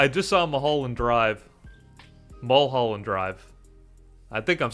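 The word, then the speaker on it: Mulholland Drive: Mhalland Drive.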